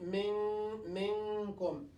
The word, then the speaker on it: منكم: We say mikkum, or will not pronounce it 100% minkum. We'll say minkum.